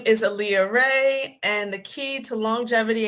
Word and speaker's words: Rae: can find me at ray of light digital so rey is spelled like my middle name it's r a e ray of light digital